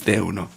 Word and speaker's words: De Uno: I mean, you guys say De Una all the time, right? So it only makes sense. I see it, right, as a non-Colombiano. Anyway, so De Uno. Of course it's De Uno. I've been saying it wrong this whole time.